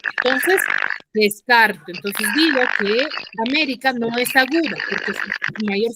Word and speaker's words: América: es una palabra grave Ahora yo digo que ese esdrújula que su mayor fuerza de voz está en la antepenúltima sílaba Cómo pronunciaré América amé esa suena mejor